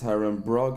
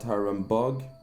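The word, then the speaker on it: Haren Brogg: we're still looking for Harun brog I said it wrong earlier it's her abroad not harem bug I need to find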